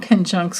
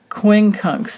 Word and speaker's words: quincunx: do have these in conjuncts going on or I'm sorry I keep forgetting to it's actually quincunx is the the right way to say it but either way whatever